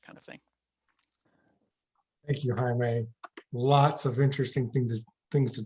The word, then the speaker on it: Jaime: J's in Spanish are pronounced as H's, just like Jose or Jesus or Jorge. So Jaime is Jaime, and I go by Habitat Jaime on those handles.